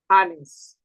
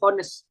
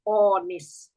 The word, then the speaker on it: honest: Anis. Bacanya anis ya, bukan honest tapi a. Anis. Kalau British dibaca onis, American dibaca onis gitu ya.